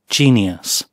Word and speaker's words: genius: И слово «гений» обращаю ваше внимание на отсутствие звука «у» или «ю» или чего-нибудь еще такого. Здесь стоит только «шва» и ударение на первый слог. Genius.